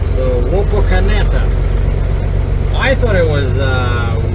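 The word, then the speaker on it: Wapakoneta: I know you know it's spelled w a p o k a n e t a now how do you say this and she said she said WETA I said wait wait wait wait say this again only slow is Wok aneta so Wok aneta I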